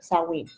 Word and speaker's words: Samhain: In the 8th century, the Christian church adopted Samhain. Don't pronounce the M. Samhain. The Christian church adopted Samhain, and turned it into All Saints' Day, and All Hallows' Eve was celebrated the night before.